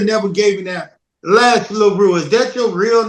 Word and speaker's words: LeRoux: the name is this my real name is laru that's my real last name spelled the same